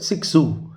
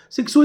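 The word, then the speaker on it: Cixous: x o u s we pronounce this word six zoo sixu is best known for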